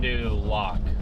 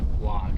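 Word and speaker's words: Fond du Lac: Oh, fondue lac. Okay. Well, there you go. You say lake whack. L A C K. How'd you pronounce it the first time? Fondue lock. Lock.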